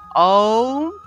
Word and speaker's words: ওম: তাহলে আমরা আবার দেখি, ওম, অর্থাৎ আ দিয়ে আরম্ভ করতে হবে।